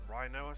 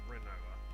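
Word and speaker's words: Rinoa: Oh, Renoa. I don't think it's Rhinoa. Someone said to me I was pronouncing it wrong and it was Rhinoa. I'm like, pretty sure it's Renoa.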